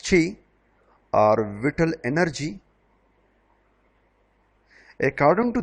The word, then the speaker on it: qi: In traditional Chinese medicine, reflexology rests on the ancient Chinese belief in qi, pronounced qi, or vital energy.